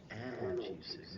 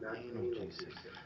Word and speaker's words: analgesic: That's actually pronounced analgesic, not analgesic.